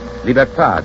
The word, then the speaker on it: libertad: Liberty is pronounced liberté in Haiti and Martinique, libertad in the islands that still keep the Spanish tongue.